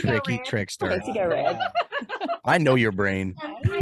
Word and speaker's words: GEAUXREDD: I go by Go Red, which is spelled GEAUXREDD.